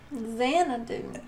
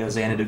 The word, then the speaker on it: Xanadu: I'm getting at is the X should be pronounced like a z like Zen do but